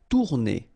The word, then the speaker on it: tourner: Tourner. Same thing here, if you listen carefully, tourner. R is not that strong.